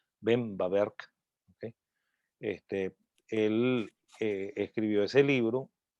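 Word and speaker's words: Böhm-Bawerk: ver qué se hace así es como se debería pronunciar el apellido los dos apellidos va a haber ven bawerk él escribió ese libro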